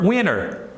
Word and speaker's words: winter: Same thing for winter. Just forget the T. Winter.